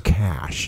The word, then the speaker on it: cache: Like, it's not a cache, it's a cache. And we were like, okay, cool. So anyways, exactly. I'm correcting you now. So it's not a cache, it's a cache. Even though it's spelled cache.